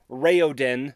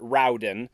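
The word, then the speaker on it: Raoden: vowel tones in pronunciation so it's rayodin not rauden sarini not Serene and I guess technically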